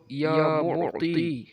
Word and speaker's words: یا معطی: ہونا صحیح ضروری ہے، عین گلے سے نکالنا ہے، اور یا معطی کا جو عین ہے یہ بھی گلے سے نکالنا ہے، اور تا کو موٹا اور پڑھنا ہے، اس کو تے نہیں